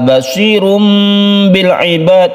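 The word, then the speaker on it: بَصِيرٌ بِالْعِبَادِ: Basirum bil ibad, ada tanwin bertemu dengan ba kita sebut dengan iklab. Suara tanwin itu berubah menjadi mem mati. Suara tanwin atau nun mati berubah menjadi mem mati sehingga kita membacanya basirum bil ibad.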